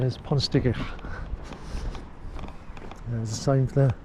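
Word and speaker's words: Pontsticill: Obviously somebody who's English, but proper pronunciation is Ponsticill.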